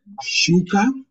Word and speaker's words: shuka: Then in the letter we say SH, where we have the word sh, we pronounce it the same way as sheep. Sheep. Then we say like shuka, shauri, shauri, or we'll say shule, shule, shule.